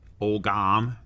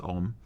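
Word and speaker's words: Ogham: My other thought would be if you decide to do something that is, for instance, written in Ogam, it's actually pronounced Om, or Gaelic, make sure you know what the heck it says.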